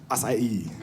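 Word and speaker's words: açaí: And it had this berry in it, and the berry is spelled A-C-A-I, right? So I saw that, and I told my friend, I was like, I'm going to have the acai bowl.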